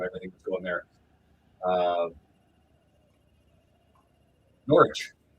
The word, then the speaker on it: Norwich: Uh, Norwich. It's pronounced like a W and R like silent.